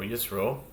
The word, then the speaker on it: Yisro: This is Shishi, the sixth reading of our weekly Torah portion of Yitro, or Yisro, depending on your pronunciation.